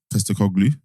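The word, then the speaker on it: Postecoglou: I've read up a lot on Postacoglu.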